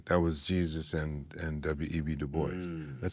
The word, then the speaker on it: Du Bois: No, he pronounced it the anglicized way, Du Bois.